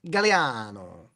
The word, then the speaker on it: Gagliano: My last name is G A G L I A N O Gagliano, but it's actually pronounced Galliano.